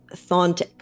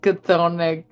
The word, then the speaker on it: Chthonic: I think the C is silent. Thontic. Okay, yeah. I think it's just Thonic, yeah. I think. Thonic. Right? I believe you. I have been reading it as Chthonic, like Cthulhu. Yeah, It's not like I was Cthulhu.